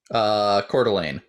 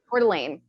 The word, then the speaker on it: Coeur d'Alene: Coeur d'Alene. Coeur d'Alene.